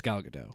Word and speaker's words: Gadot: So it looks like Patty Jenkins, Gal Gadot, that I thought it was Gal Gadot. whatever her No, name the T is. is silent.